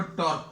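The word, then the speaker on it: τ: अब यहां पर जो काम फोर्स का था यहां पर टॉर्क का है। टॉर्क को अभी हम लोग ऐसा रिप्रेजेंट करते हैं, टी जैसा है, इसको थोड़ा सा घुमा दिया, this is pronounced as what, टॉ, ठीक है।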